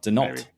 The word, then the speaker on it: Denault: I would say Dayon. Denault. There you go. Denault. He's from California. If he was from Quebec, I would pronounce it differently, but yeah.